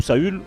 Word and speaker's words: Saül: Lui, c'était le deuxième roi d'Israël, parce qu'on sait bien qu'il y avait eu Saul, le premier, ou Saül, comme on prononce.